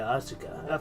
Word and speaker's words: Asuka: On his way out to get some groceries, he bumped into Asuka. Fuck, I said it right. God damn it. I never say Asuka right. I always say Asuka.